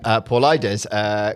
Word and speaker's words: Paulides: So the project began when Paul Ides. Okay. I said at the start, I'm not going to pronounce his name wrong.